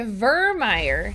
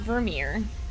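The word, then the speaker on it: Vermire: on the news we're going to vermeier not Vermeer sorry for all the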